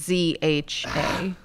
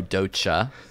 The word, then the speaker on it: Doja: Dozha, Oh, Docha. which is not how you pronounce her name.